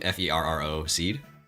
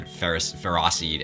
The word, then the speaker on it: Ferroseed: That is actually truly the official pronunciation. And the little one is the seed. Mm-hmm. Same Ferro seed.